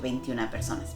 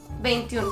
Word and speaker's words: veintiún: In my moments of learning I might have said "veintiuna personas" but the correct thing is "veintiún personas" a year ago he already told us "veintiún personas" -That's it my German!